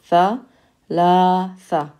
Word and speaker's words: ثلاثة: Notice ثلاثة starts with a ث and it has three syllables. Tha, la, tha. That should help you remember it.